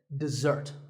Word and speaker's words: dessert: with a z sound we stress the second syllable dessert this word refers to